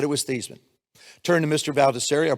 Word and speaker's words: Theismann: think by just simply changing the pronunciation of your last name from Theismann to Theismann to rhyme with Heisman, we can guarantee you that trophy.